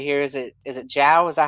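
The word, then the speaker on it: João: you say it uh you guys can say jiao it's uh it's an uh a grammatical thing here in portuguese here in portuguese it's joao but you can call me jiao every every guy that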